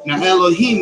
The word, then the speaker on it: Elohim: for elohim heeelp Elohim Elohim means multiple of God hello men and he remains fixed to God but it's pronounced Elohim so that's my theory